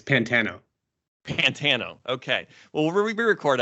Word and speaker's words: Pantano: It's Pantano.